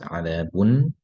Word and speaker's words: عذاب: It's not written, but it's pronounced عذاب, ending with a noon sakina.